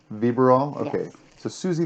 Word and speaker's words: Vybiral: susie how do you think vera bill close vibra roll vibrol okay so susie viverol yes hey so i sent you some questions